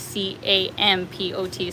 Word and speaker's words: Kampot: as Rahul spelt it, the drink would be Compot, whereas the city here is Campot. So that's the slight variation, but they basically are pronounced the same.